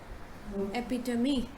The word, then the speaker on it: epitome: do you pronounce this you say epidemic or me it's not epidome or epidural means me epitome epitome epitome right now the next word